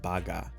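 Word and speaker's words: バーガー: Cheeseburger or just burger, it's just baga.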